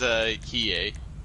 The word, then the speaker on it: Hiei: is Hiei. That's how it's Hiei, yeah.